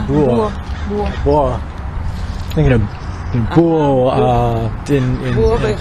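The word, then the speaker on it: búho: Right, the buho, right? The buho. Buho. Yeah, the H is silent in Spanish. Oh, that's funny because I've always been saying buho, but it's buho.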